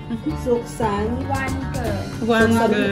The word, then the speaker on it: สุขสันต์วันเกิด: Suksan. Wan ge.